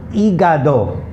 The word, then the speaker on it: hígado: Okay, H is the only alphabet in the Spanish language that's always completely silent. It has no sound.